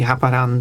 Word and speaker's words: Haparanda: I would say Haparanda. I mean, it's the Swedish city, so...